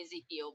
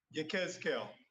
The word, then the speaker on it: Yechezk'el: Some say Ezekiel, but Yechezk'el. Yeah. So go ahead and pronounce it for us, brother. Yechezk'el.